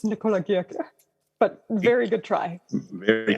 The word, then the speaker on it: Nikola Girke: I think most English speakers would say Nikola Girke, but it's German, it's Nikola Girke.